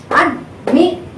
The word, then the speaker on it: admiration: So the stress is on the penultimate syllable.